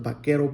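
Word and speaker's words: vaquero: the the bakaroos, the bakero boots. That's how it is. Bakero. Um, Anglo couldn't pronounce bakero, so they started saying bakaroo. Bakeru, bakaru. and then it became a buckaroo.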